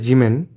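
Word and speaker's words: 地べた: This word is generally pronounced as jimen, but in this poem the informal pronunciation jibeta is used.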